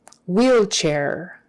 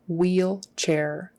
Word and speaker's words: wheelchair: a word so um wheelchair wheelchair the H is silent e e l CH h and a i r always is pronounced air air wheelchair wheelchair Accent on the